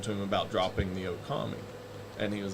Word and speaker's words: Okami: And then I found Japanese and was like, oh, okay, it's got the long double O sound at the beginning. So really, people can just say Lobo Okami.